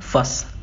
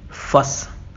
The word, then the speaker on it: fuss: तो हम बोलेंगे फस। मेरे साथ रिपीट करिए, फस। हमको फुस नहीं बोलना है, हमको क्या बोलना है? फस।